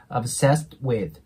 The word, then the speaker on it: obsessed with: になるので次にポインが続かない時は音が消えるんですねなので obsess with ていう感じでねこの obsess で T を発音する下の動きまではくんですけどそこで止めてそのまま with に続くイメージですねそんな感じで obsessed with ていう感じでね発音してもらえたらと思いますじゃあねえ今日